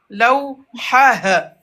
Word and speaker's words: لوحة: Lawha. لوحة. لوحة. Mhm. مقلمة. Mhm. مقلمة. Très bien. Miqlamah. مقلمة. Mhm. مدرسة. Mhm. مدرسة. Voilà. On dit lawhatun, mais quand on s'arrête, lawha. On va pas prononcer le T.